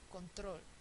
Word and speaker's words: control: palabras esdrújulas llevan tilda control conol el estrés está en la última sílaba termina en l Entonces está bien no